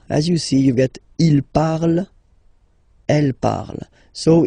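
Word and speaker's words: ils parlent: And the last one, so even if you've got this ENT, well, don't hate me, but you won't pronounce these letters, okay? You have to write them for the plural form, but you don't pronounce them, so you get il parle, elle parle.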